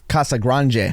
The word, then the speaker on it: Casagrande: His name is Eloy Casagrande, which apparently I learned it's supposed to be pronounced Casagrande, but I'm an American.